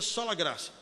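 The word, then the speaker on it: sola gratia: Tem um T aí, mas pronuncia sola grácia.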